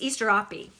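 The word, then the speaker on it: Asterope: to you about this this is easter opie okay this is how you say that and easterrapi is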